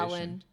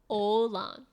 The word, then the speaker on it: Åland: Oh no, come on, that's that American sounded like pronunciation. Alan. I don't want the English pronunciation. Here we go. Åland.